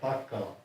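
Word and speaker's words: Pakaala: But his name was Pakala, P-A-K-A-A-L-A, Pakala. And that was anglicized, because there's no letter B in the Finnish alphabet. So the P is always pronounced a hard P.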